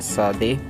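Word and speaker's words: צדי: बढ़ते हैं हमारे 18th अल्फ़ाबेट की तरफ, जो कि प्रोनाउंस किया जाता है सादे या सादी। तो इसको जो है वो साउंड निकलता है स का। एक्चुअली जो इसमें टी है शुरुआत में वो सॉफ्टली पढ़ा जाता है।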